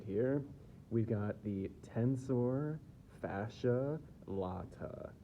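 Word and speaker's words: tensor fasciae latae: We've got the tensor fascia latt. I've heard it pronounced a couple different ways. I think probably the best way to say it is the tensor fascia latt.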